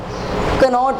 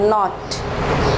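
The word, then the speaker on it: knot: ठीक है, नॉट है तो कनॉट नहीं, नॉट, और नो है तो नो, किनो नहीं।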